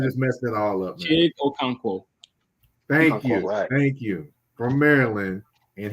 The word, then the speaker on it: Chig Okonkwo: Chig Okonkwo.